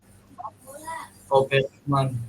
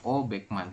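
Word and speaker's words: 오백만: Berarti penyebutannya Obekman. ya, betul ya. Penyebutannya adalah O Beckman seperti ini.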